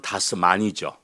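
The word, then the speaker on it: das Man: 쓴 책 이름이 다스멘 다스맨 다스면이라고 하는 독일어 발음으로는 다스만이죠 다스만이라고 하는 이게 이제 많은 우리 말로는 맨이고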